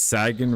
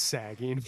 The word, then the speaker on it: saging: So, it's sagging. Really? It is sagging.